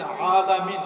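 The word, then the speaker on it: العالمين: আলহামদুলিল্লাহি রাব্বিল আলামিন, এখানে আছে আইন।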